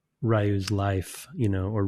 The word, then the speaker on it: Ryu: it feels like it's Rayu's life you know or Ryu's life or Rio um it's not consistently pronounced It is Rio and it it is R Yo.